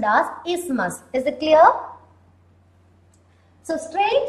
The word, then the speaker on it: isthmus: It is pronounced as isthmus. T and H are silent here. T and H are silent here. So it is pronounced as isthmus.